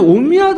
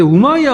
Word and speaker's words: 우마이야: 예전에 모하메드라고 했는데 뭐 무하메드 하거나 아니면 예전에 옴미아드 왕조라고 했거든요. 옴미아드 제가 배울 때는. 근데 우마이야 왕조라고 하더라고요. 요즘에는. 예. 그래갖고 좀 헷갈리는데 아마 원발음으로 이렇게 쓰는 거 해가지고 그런 것 같아.